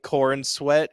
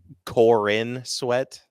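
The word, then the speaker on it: Corenswet: his name right because I kept calling him corn sweat today how do you say it Corin sweat oh Corin sweat yeah and I kept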